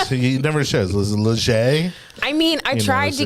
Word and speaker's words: Legge: How do you pronounce the last name? Legge.